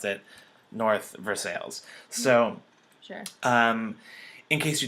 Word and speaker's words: North Versailles: If you pronounce things correctly, but in Pittsburgh we pronounce it North Versailles.